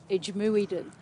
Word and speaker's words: IJmuiden: Eimouder is where the boats come in, the ferries from Humberside. And Humberside, I think you finally would pronounce it over here. Marty pronounced it Ijmuiden.